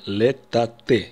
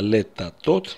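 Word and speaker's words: לטאטא: Из-за того, что последняя буква алеф, мы последняя буква корня, мы произнесем летате. Именно так мы будем говорить. Летате, подметать. Те, кто не понимает, что здесь последняя буква корня алеф, произносят иногда летатот. Мы тоже можем это услышать. Это неправильно, и мы не будем так говорить.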